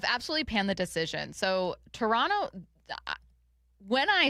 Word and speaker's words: Toronto: Been working on saying Toronto correctly except for when they find out it's Toronto. The second T isn't pronounced.